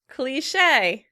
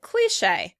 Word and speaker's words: cliché: The British pronounce it cliché. Cliché. Americans pronounce it cliché. Cliché. Once again, you can use the little accent mark at the end of the word in order to remind you where the stress should be.